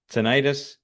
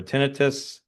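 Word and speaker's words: tinnitus: strokes, concussions, Parkinson's, dementia, brain fog, insomnia, seen an impact on seizures, tonitis, um or tinitus, um different people pronounce it different ways, eye issues, smell, and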